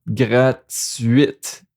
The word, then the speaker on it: gratuite: It's not like the T is at the end of the word, like a silent letter at the end of the words. So gratuit, but the T here is not the last letter. So gratuite. Gratuite.